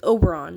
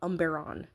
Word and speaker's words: Oberon: It's not Oberon, is Oberon. It's Oberon, not Umberon. I don't know.